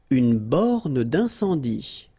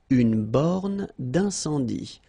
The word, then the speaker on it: borne d'incendie: Une borne d'incendie. Okay, final here not pronounced, final here not pronounced. Une borne d'incendie. And then you get the nasal. Un, en, incendie. Une borne d'incendie.